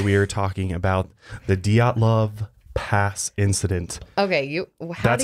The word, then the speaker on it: Dyatlov: Today we are talking about the Dyatlov Pass incident. Okay, That's how you actually say it. I had to look up the Russian pronunciation for it.